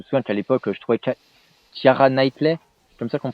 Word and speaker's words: Keira Knightley: Je me souviens qu'à l'époque, je trouvais Keira Knightley, c'est comme ça qu'on prononce, je la trouvais juste Je sais pas.